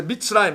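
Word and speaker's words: מִצְרַיִם: 성경에는 전부 다 미츠라임이라고 해요. 미츠라임.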